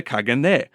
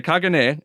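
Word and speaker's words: caganer: a second one recently it is about the Kagan and the I'm trying to pronounce this well enough uh it's spelled c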